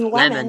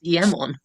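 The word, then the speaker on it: Iemon: So many people say lemon. Lemon. Why do I need to remember his name? It's just lemon, bro. It's not though. It's emmon.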